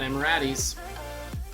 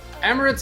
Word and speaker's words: Emirates: with his hat straight not emiratis emirates airlines the largest carrier